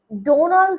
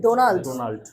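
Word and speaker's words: Donald: আচ্ছা ডোনালড ট্রাম্পোনালড ট্রাম্প লাস্টের ডিটা উচ্চারণ করতে হবে ডোনাল্ড ডোনালড আমি সবগুলা লেটারকে আপনার ওর মর্যাদাটা দিতে হবে সম্মান দিতে হবে ঠিক আছে ডোনাল্ড না আপনি বলেছেন ডোনালড মানে লাস্টের লয়ে শেষ করেছেন কিন্তু বাডিটা সেটা উচ্চারণ করে নাই ডোনাল্ড ট্রাম্প ঠিক আছে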